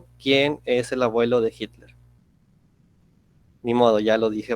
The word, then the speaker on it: Hitler: la pronunciación si quiere cómo se pronuncia hitler hitler porque la ema se pronuncia no es como la doble y el hit la que hitler entonces en lugar de hit la fue hitler se confundían alois primero